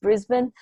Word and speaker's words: Brisbane: Australians don't really pronounce syllables very much, so we're very lazy speakers, so it's Brisbane.